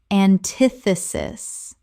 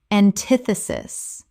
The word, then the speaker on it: antithesis: Antithesis. Correct pronunciation. Antithesis. 4 syllables with the stress on the second.